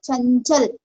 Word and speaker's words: चंचल: तो यहाँ पे न्यो चंचल न्यो प्रोनाउंसिएशन हो रहा है, जो अम की मात्रा है ना उसका प्रोनाउंसिएशन न्यो हो रहा है।